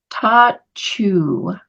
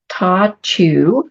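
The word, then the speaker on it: Ta Ch'u: um iching the name for gate 26 is Tatu so it's spelled t a c h and then apostrophe U for any of you that are taking notes Tatu it is Mountain above and Heaven below welcome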